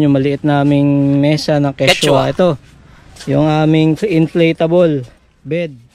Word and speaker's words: Quechua: Kasi ang dati naming pronunciation dito, Quechua. Ay, hindi pala tama yung Quechua. Ang tamang pronunciation pala ng Quechua ay Quechua.